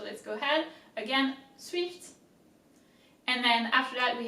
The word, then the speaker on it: swift: that we have swift swift in french swift is actually the same there's a little bit of less of an emphasis on the eye but it's pretty much the same as in english so let's go ahead again